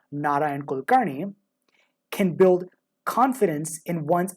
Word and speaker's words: Narayan Kulkarni: shows up, such as pronouncing my name by default as Nion Kolkarni in most English-speaking contexts, but encouraging those who are able to pronounce it more closely to the actual pronunciation of Naran Kulkarnney can build confidence in